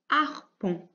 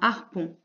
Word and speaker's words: harpon: des poissons c'est un harpon un harpon et ici aussi il y aura 1 h muer en début de mots